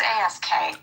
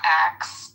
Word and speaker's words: ask: The word is ask. It's ask. Oh, pronunciation is not axe.